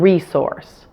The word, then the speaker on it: resource: An exception to this rule is words that have the prefix re, like in research and resource. Those middle S's after the RE are still pronounced with an S sound.